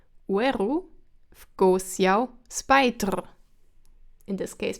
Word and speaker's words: oeru: What you maybe already heard is that the first word weru I say as weru, as two syllables and not as oeru. This happens always as soon as you have something behind the oe. So oe and on its own is pronounced as two syllables, oe, but as soon as you put something behind it, you have the oe becoming we. So oe, but weru.